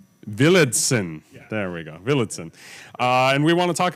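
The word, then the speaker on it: Villadsen: No, I know it's spelled, but Villedsen. Yeah. There we go, Villedsen.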